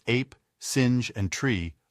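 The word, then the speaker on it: singe: in the same way he was taught to pronounce ape sin and tree arbre he was a most eager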